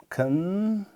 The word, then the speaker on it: consciousness: Third is the stress syllabus, and then consciousness, C-O-N-S-C-I-O-U-S-N-E-S-S. This is then consciousness. All right. So this is first syllable, consciousness. So we have 3 syllables here, and this just lies in the first one.